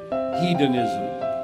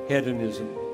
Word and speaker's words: hedonism: said this morning Christian hedonism Christian hedonism some people pronounce it ed anism now I know that